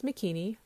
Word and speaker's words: Makini: heard wrong I say my name is makini rhymes with bikini but within it one